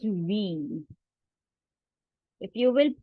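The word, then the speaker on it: wie: It is not why, it is we.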